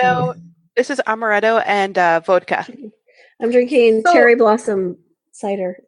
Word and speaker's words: vodka: whatever because it's it's supposedly in Russia it's pronounced vodka it's gotten to the